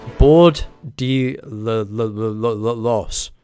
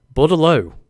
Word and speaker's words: bordello: Board de los. Os. Bordello. Oh, you're completely wrong about it, Wind. Bordello. Okay, so it's got some silent pronunciation in there.